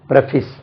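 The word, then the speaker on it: preface: adopt then ஏற்கனவே இந்த பிரபீஸ் படிச்சாச்சு முன்னுரை பிரபிஸ் அடிக்கடி நான் சொல்லி இருப்பேன் பிஆர் இப் ஏசி இதை பிரபஸ் இது முன்னுரை அதை ப்ரீபேஸ் என்று சொல்லக்கூடாது பிரபிஸ் அல்லது பிரபஸ் பிரபிஸ் சொல்லலாம் இல்லைன்னா பிரபஸ் சொல்லலாம் பிரபஸ் முன்னுரை பிரபஸ் பிரபஸ் தென்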